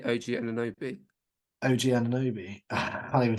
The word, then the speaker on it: Anunoby: It's going to be how do you pronounce his? Great, appreciate it. How do you say OG Anunoby? OG Anunoby.